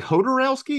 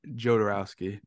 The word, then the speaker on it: Jodorowsky: this long talking about yodorowski or Joe dorowski or however you pronounce it sure be hodorowski because it's yeah he's like people say hodorowski some people who say yoderowski some people say jodorowski he's French Chilean sorry